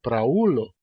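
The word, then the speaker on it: praulo: ulo que significa antepassado pra ulo em Esperanto ela o u Ele separa do a e e se pronuncia outra uma outra vogal uma outra sílaba e nesse caso nós temos três sílabas para o e l como é par oxito no Esperanto é para oo o acento cai aí O O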